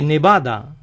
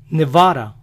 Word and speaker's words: Nevada: su forma de pensar el estado de nevada ellos pronuncian la de entre vocales como nuestra ere nevada nevada venus y aries son